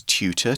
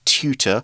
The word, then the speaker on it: tutor: A note on pronunciation there. I'm from the UK, so I'm more likely to say tutor. I think in the States, people would say tutor. It's more of a heavy T.So here's an example sentence.